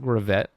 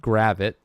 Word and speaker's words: Gravett: Hassani Gravett, not Gravett. We now know that it's pronounced Gravett.